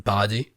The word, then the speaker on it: Paradis: Ymir's people to Paradis, which is another French word for you, because I kept saying paradise, but no, it's called definitely Paradis, like in French. It's pronounced like in French, so I'm going to say it in French.